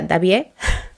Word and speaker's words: Daviet: Se escribe Daviet, creo que se pronuncia Davier, perdonarme mi mala pronunciación de los idiomas y sobre todo en este caso del francés.